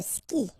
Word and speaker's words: skie: And it's exactly the same rule, so you've got this after, but then clearly you don't pronounce it. Okay, elle joue. And then, je skie.